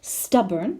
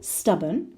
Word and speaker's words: stubborn: Stubborn, the same, the second syllable, stubborn, stubborn.